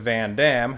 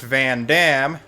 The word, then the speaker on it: Vandham: difference in pronunciation whereas in xenoblade chronicles the numbered games it is pronounced van damme while xenoblade chronicles x's